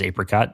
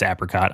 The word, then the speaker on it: apricot: I don't know why he pronounces it as apricot, because I've never heard anyone American say that. It's apricot, I'm sorry.